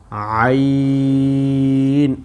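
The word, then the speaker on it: عين: তারপরে হলো আইন, আইন, এই যে আইন, এই বললাম হা আর আইন দুইটা একই মাখরাজ থেকে, এই যে গলার মধ্যখান রয়েছে কণ্ঠনালীর, এই কণ্ঠনালীর মধ্যখান থেকে আমরা উচ্চারণটা করব, তাহলে উচ্চারণটা সুন্দর হবে।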